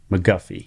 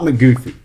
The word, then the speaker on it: MacGuffie: And today I have a guest with me, and that is Evan MacGuffie. You got it. Boom. Not McGoofy, MacGuffie.